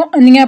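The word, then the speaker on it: Anya: ये भी important character है, इसको अनिया प्रोनाउंस करेंगे।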